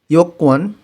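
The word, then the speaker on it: 여권: দেখেন ইয়োকওয়ান, এইটা কোরিয়ানরা উচ্চারণের সময় মনে হয় যে নিচে বাচ্ছিমা একটা গিয়োক আছে, ওই রকমভাবে উচ্চারণ করে। ইয়োকওয়ান দুইটা কয়ের মতন শোনা যায়, কিন্তু আসলে দুইটা ক না, ওদের উচ্চারণের সিস্টেমটা ওই রকম, তাই ওইরকম শোনা যায়। তা আপনিও এইভাবেই উচ্চারণ করেন, সেটা সুবিধা হবে।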